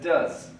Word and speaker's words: does: do Do's no okay so we pronounce it as does does of course so he